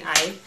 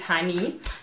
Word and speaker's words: Hanni: By the way, Hanni is the same way it's spelled in this, in the name for this channel, Hanni, not Honey, please. It's Hanni.